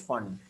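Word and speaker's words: Pfund: bracket, and fifth is fund. Don't go by the, this is P, but you pronounce it as fund. P is silent. Lyman, Balmer, Passion, bracket, fund.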